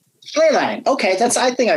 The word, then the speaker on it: Schlehlein: of even trying um how do you pronounce your last name it's sleigh line okay that's I think I was gonna get